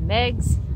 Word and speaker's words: Meags: Photo Booth, a biography by Megs Fitzgerald. Megs is spelled M-E-A-G-S Fitzgerald.